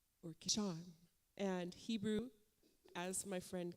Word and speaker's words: Kishon: And so she was gracious to tell me that the pronunciation is mostly on the second syllable, right? So like Shan, like Ilah, Yeshua.